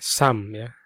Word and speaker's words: SUM: rumus menjumlah itu namanya samya namanya samsami tua tulisannya e sumsum ya dibacanya Sam itu adalah suatu fungsi